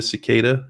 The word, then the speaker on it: cicada: different sizes but if you haven't seen a cicada it's not si CK it's the cicada and